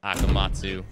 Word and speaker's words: Akamatzu: uh if you guys don't know how to pronounce my name my name is akamatsu some people get hick up on it hope